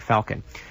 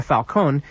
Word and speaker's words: Falcon: all Alberto Cecilia Falon the last name name is spelled s i c i l i A- f a l c o n like Falcon Alberto Cecilia Falcon leader